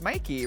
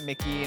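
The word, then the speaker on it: Myki: In drag, it's M-Y-K-I, but people still don't know how to say it, but it's Mikey, right? Not Mickey, not Meeky.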